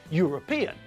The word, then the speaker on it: European: with university uniform and European we pronounce all these words with a year sound at the front it's